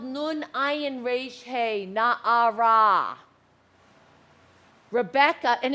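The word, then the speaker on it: נערה: A maiden is spelled nun ayin resh hey, na'ara.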